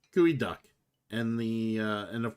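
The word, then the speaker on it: geoduck: in a Seattle specialty it's actually pronounced gooey duck and the uh and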